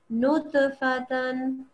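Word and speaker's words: نُطْفَةً: So this is a ta with a sukoon, so it's a kalkala letter. We make a jumping sound, or jacking sound, like it's also called. Nutfatan.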